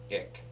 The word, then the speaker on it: ich: going to have fish it's something called believe it or not ick ick ick but it's really called it it's spelled ich it's an acronym no